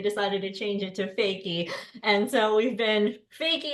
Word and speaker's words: Foecke: And I was like, how do you pronounce it? Is it fuck? And she told me no, it's fakey.